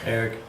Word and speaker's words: Arik: All right, and then Eric, is it Eric or Arik? Eric. But it's spelled Arik.